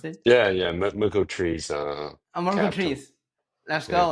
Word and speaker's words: Merkle3s: How to pronounce it? Yeah. Yeah. Merco Trees.